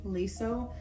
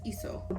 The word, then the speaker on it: Leeseo: I always say Leeseo just out of a habit because I see the L, but it's ISO.